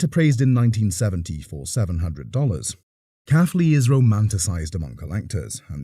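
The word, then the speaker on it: Caughley: The appraiser, who lived near the factory, said that the factory was pronounced as Caffley.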